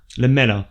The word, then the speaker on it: Lamela: Lamela? Am I saying Lamela. Lamela.